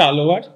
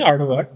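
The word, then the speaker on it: ஆழ்வார்: আর বৈষ্ণব ভক্তদের বলা হচ্ছে আলোয়ার। একদম তামিল উচ্চারণে গেলে লটা ধয় শূন্য রয়ের মতো উচ্চারণ হয়, আড়োয়ার।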